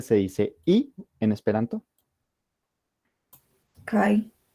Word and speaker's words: kaj: porque recordemos de que esta letrica de acá se pronuncia como una i en el Esperanto, y pues el i de conjunción en el Esperanto se escribe Kai.